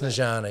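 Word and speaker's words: Snežana: Snezana, yeah.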